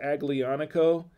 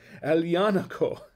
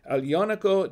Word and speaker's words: Aglianico: now it says it looks like it says aglianico uh that's not how it's pronounced actually it's alianaco so i'm messing myself up and i haven't had any wine yet it's alianaco del voltor it's uh and i'm not going